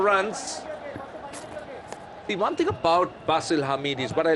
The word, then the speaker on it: Basil: player impressed in Oman basil Hamid I I thought it was Bastille b-a-sil well I mean proper nouns can you pronounce anyway yeah but generally in Sri Lanka we would pronounce bsyl Bastille but then I was